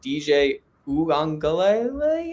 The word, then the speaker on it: DJ Uiagalelei: DJ Uiagalelei, I believe is how you say it.